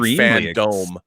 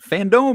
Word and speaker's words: FanDome: I mean, I've been calling it Fandome. Fandome, that's what it is. It's not fandom.